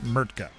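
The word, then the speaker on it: Mrtka: MKA redeem Mertka.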